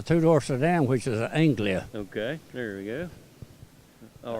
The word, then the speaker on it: Anglia: What's the correct pronunciation for the body? It's a two-door sedan, which is an Anglia.